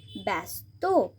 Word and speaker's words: ব্যস্ত: আবার বয় জফলা দন্তে শয় তয়, ব্যা জফলাটা সাউন্ড হবে অ্যা, ব্যস্ত।